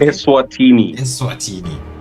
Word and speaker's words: Eswatini: How do you pronounce it? Eswatini.